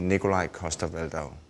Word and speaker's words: Nikolaj Coster-Waldau: here when I'm in Denmark it would be Nikolaj coster-waldau see how much does Nikolaj coster-waldau wait okay